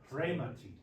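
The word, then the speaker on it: ῥήματι: upastasios, autu, pharaoh, te ta panta, Take a To remati. Remati. Yeah, there we go. Hear that trill.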